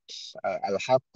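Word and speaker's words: الحاقة: ya tentang kondisi ya kita membacanya wajib ya panjang ya kita membaca sini Ee kita harusembacanya dengan ehad ya enam harakat ya alhaqq itu semuanya ehim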